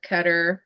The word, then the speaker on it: Qatar: So, so the U7 World Cup is going on in you say Qatar cutter. You know the proper pronunciation I believe isqatar but everyone saysqatar and